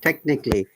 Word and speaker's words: technically: technically ethnically very good technically here a is the schwa before aloi if you find any word that has got a lly a is always short we do not pronounce it at all robin remember this is